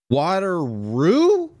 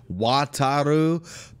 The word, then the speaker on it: Wataru: water wait wait wait water roo okay i know he's supposed to be saying wataru but man this is